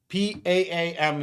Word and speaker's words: palm: It's not palm like pomegranate. It's palm like palm. No, you guys are incorrect. It is palm. PAAM is how it's just pronouncing it. Honestly, no L.